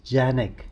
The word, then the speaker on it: Canik: Kanek has been well known uh for producing quality firearms and uh it's pronounced as Janek in Turkish.